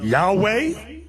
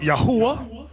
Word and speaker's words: Yahweh: known to them now depending on your form of Hebrew you have some people pronounce it Yahweh another group pronounced it Yahweh we were taught yahwah we've never said that that